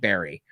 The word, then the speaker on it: Burry: Burry is the spelling. Say it like Barry.